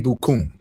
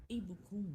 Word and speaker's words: Ibukun: Ibukun. Ibukun.